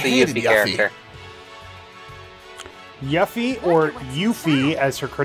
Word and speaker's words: Yuffie: cousin she is the easy answer yuffie or yuffie as her car name is correctly pronounced according to the voice versions of the